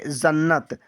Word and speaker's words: जन्नत: next है यहां पर जे A double N ए टी पढ़ेंगे जन्नत तो जे से तो होता है ज ए साइलेंट एन से आधा ना अब यहां पर दोबारा ना है तो पूरा ना लेंगे टी से ता ती से त तो हुआ जन्नत कितने आसान ब से